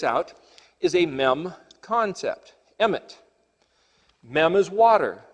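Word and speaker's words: אמת: a womb the word aleph mem Tov is pronounced in English Emmett which is the word truth so the word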